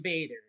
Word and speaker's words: Bader: Playing Mark Coleman is Ryan Bader. I pronounced it right.